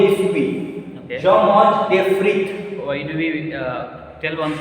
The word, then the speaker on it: frites: Frite. Arey looch. See, this word is not one syllable word. This word is not made of maximum 3 letters. So S will be silent.